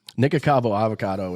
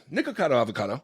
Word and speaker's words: Nikocado Avocado: know it's unhealthy yeah and then interes him nikavo avocado is like one of the most famous ones